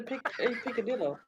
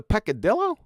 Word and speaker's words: peccadillo: yeah but yeah you do what is the piccadillo what is a peccadillo yeah piccadillo they got to pronounce it correctly well the thing is that